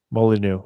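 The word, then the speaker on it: Molyneux: Uh, just just so that I'm pretty sure I'm pronounced that wrong. I believe that's Molly. Molyneu.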